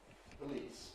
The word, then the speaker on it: police: I know I don't aspirate in this position. Police, police, police, police. Perhaps a little tiny bit, but nothing like pan.